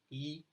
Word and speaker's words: Yii: E is pronounced as E and it is an acronym for Yes It Is.